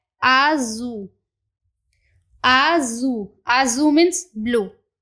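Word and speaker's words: azul: तो चलिए अब एक एक करके इनकी प्रोनाउंसिएशन को देख लेते हैं। तो फर्स्ट है आजू, आजू, आजू मीन्स ब्लू।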